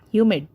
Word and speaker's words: humid: that is showing that Hue is being stressed more whereas mid is you know finished up very quickly Hue mid humid similarly second one examine